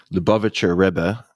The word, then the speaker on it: Lubavitcher Rebbe: You mentioned that, and I'm going to butcher the pronunciation here, but the Lubavitcher Rebbe if Perfect.